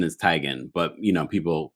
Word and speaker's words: Teigen: her tygan but everyone she said the correct pronunciation is tigen but you know people say tegan which is whatever whatever we'll call her tegan